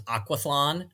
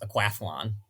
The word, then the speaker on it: aquathlon: is quathlon yeah I always thought it was aquathon which would make more sense but it's actually pronounced aquaflon aquaflon yeah it's kind of silly aquaphon man